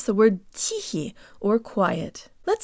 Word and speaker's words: тихий: I'm and today you'll learn how to pronounce the word teehee or quiet let's say the first syllable with